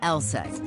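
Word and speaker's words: LSEG: be a bit misleading take ours for instance pronounced LSAT AKA London Stock Exchange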